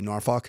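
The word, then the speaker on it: Norfolk: State not even close you like how I say northfalk is that's how they say it in tiwater norf um the Ed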